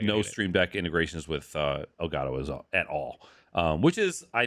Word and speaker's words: Elgato: I'm sorry, it's pronounced Elgato.